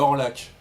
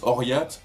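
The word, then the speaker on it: Orlhac: alors, ça se lit à Orlac, mais ça se prononce Oriat.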